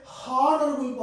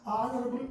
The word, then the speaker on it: honorable: similarly we don't say honorable person we pronounce honorable person the pronunciation of the word is beginning with o so my students give